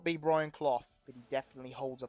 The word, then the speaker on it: Clough: I don't think his name is pronounced Clough, by the way. I've sort of butchered his name. Is it Clough, like rough?